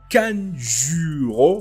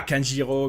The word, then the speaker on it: Kanjuro: Donc, la dernière fois les amis, c'était la grosse révélation Kanjuro. Voilà, pour les gens qui me disent que c'est pas Kanjiro, mais c'est Kanjuro, bah, vous m'excuserez, mais Kanjiro, c'est vraiment facile à prononcer que Kanjuro.